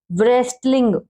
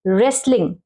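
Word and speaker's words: wrestling: ये देखिए आर से पहले अगर डब्ल्यू आ जाए ये बहुत इंपॉर्टेंट है। जैसे अब बच्चे इसको क्या पढ़ेंगे व्रेस्ट, व्रेस्टलिंग, इसको व्रेस्टलिंग नहीं पढ़ेंगे, आर साइलेंट है क्योंकि डब्ल्यू साइलेंट है क्योंकि आर है आगे, ठीक है। रेसलिंग, रेसलिंग मीन्स कुश्ती।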